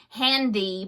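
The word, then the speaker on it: HanDIY: Anyway, it's Handy, but it's spelled H-A-N and then in capital letters D-I-Y, okay, tutorials.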